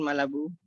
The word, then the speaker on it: Malabou: Uh bernama lengkap vetsin malah Bu bacanya harus ala Prancis yakin enggak ada esnya